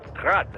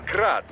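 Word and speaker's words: Град: Technically, the UG's name is pronounced GRAD, the Ukrainian way. But most in the business pronounce it as GRAD, Russian style.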